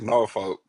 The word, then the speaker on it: Norfolk: It's Norfolk.